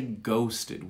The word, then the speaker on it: ghosted: if we don't it's ghosted we say ghosted we ghost it so we just barely we pretend to say it the end of the